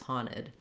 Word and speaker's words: haunted: house the house was haunted in that case you just leave the end off entirely handed and you just move right from the n into your id syllable if you do use